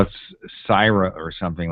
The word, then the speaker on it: Syrah: Not Sarah, but Syra. That's in Napa Valley, by the way. Okay. I don't know if they call it Sarah, but it's spelled Syra, SYRAH.